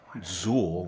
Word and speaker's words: XUL: Drecker, Zool, which is spelled XUL.